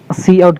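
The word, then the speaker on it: cout: सी आउट क्या है, इसको हम लोग सी आउट प्रोनाउंस करते हैं।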